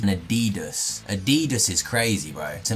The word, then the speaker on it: Adidas: It's Nike and Adidas, right? Right. We don't say Nike and Adidas.